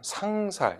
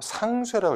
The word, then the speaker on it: 상쇄: 일단 첫 번째 보시면은 상살, 역시 이렇게 읽으시면 안 되고 상쇄라고 읽으셔야 됩니다.